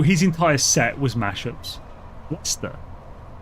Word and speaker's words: Leicester: Lester. That's how you say it. You spelled that wrong, by the way. But it's Lester. It's not Leester.